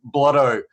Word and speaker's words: Blotto: the rest of the world on how to pronounce this word. It is Vaping Bogan and Dovpo collaboration, Blotto with double D's.